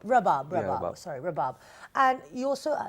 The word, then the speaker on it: Rabab: Flay see you Shahzad mentioned in the introduction that you played how do you pronounce of Rabab rabat its Rabab Rabab sorry Bob and you